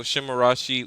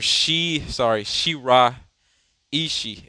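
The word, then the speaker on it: Shiraishi: So Shimarashi is the point forward, or Shira Ishii is how you say it.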